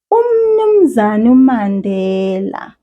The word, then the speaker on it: umnumzane uMandela: But when you hear people speaking, you won't hear every single one of those syllables and vowels. This is how it will sound. Umnumzane Mandela. Umnumzane Mandela. Did you hear that there are some vowels I did not say?